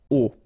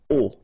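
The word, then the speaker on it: aux: And then A plus les will become O, A-U-X, but then remember that phonetically it's O.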